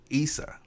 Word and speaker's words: Issa: I keep saying it wrong, but Issa. They say Issa, so Issa's cool. I actually got a brother named Issa, so that's fine right there.